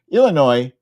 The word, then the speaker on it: Illinois: You don't pronounce the S. Illinois, he is in the running.